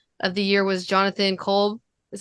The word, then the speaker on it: Kolb: um so the coach of the year was Stephanie white and then the executive of the year was Jonathan Kolb is how you say Kolb from New York which is not surprising I